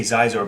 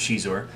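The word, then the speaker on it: Xizor: determination right then prince i want to say zeiser but i know it's pronounced she's or um has the virego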